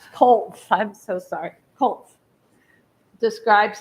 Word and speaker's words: Klotz: Coles. Colts, I'm so sorry, Colts, describes the features of his request as a stone patio and appurtenances.